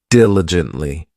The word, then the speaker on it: diligently: This adverb has four syllables and the stress is on that first syllable diligently.